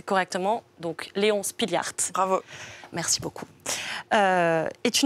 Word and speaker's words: Léon Spilliaert: c'est celui-là j'ai bien évidemment essayer de le prononcer correctement donc léon spilliaert bravo merci beaucoup et tu nous parles de